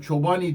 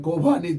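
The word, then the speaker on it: Chobani: İşte bazılarına göre Çobani diye okunuyor. Bazılarına göre Kobani diye okunuyor ama genelde Çobani diye söylüyorlar.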